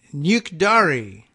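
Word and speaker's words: 늙다리: out in English letters so I can say nuke dari nuke dari and EU K nuke I'm gonna say dari da RI one word I guess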